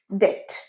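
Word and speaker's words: debt: কিন্তু বিটা এখানে সাইলেন্ট। এটার উচ্চারণ ডেট।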